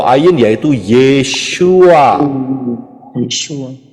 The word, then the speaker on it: Yeshua: yesua betulu ya benar karena orang Israel ngomongnya yesua lah kita kita huruf